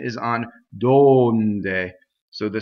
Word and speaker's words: donde: is the first light donde so this o is stressed and it's closed and as I said